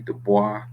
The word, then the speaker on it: Du Bois: Some people say W.B. Du Bois, right? French um, pronunciation. So, uh, William Edward Burghardt Du Bois, some people call him,